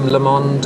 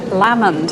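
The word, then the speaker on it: Lamond: tell me where this lovely picture by William lemond uh is right well actually we pronounce that lammond in Scotland is not so I've got off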